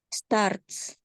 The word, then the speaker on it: starts: ya i ya selanjut jadi ini bacanya start ada s-nya setelah t Stars Stars Stars Star Stars bukan Stars ada t-nya setelah R Coba diulang starts Iya betul starts bukan Stars Ya beda artinya number